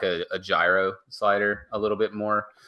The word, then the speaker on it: gyro: It was kind of like a gyro slider a little bit more in previous years. Pronounced Euro? Shut up. It definitely is not.